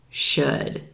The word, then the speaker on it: should: Also, notice there's an L in these words, but that L is totally silent. You don't hear it at all. Could, would, should.